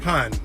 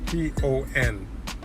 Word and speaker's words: pon: is really means on, O-N, but in Jamaica it's spelled, or in the lingo, it's pon. So you would add a P, like Peter, before it. So it's P-O-N, pon.